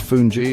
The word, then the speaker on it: fungi: Fungji pronounced fungi is like a cornmeal palenta often made with okra.